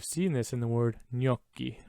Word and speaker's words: gnocchi: italian pronunciation it makes total sense why that's pronounced gnocchi all right the letter z the letter z